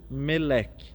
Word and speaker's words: Melech: Ebed, com D mudo, e depois o Melech, com C mudo também.